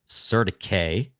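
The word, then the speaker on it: CertiK: now we're using surtic actually the way you pronounce their name technically is Sir to K but surtic to audit all of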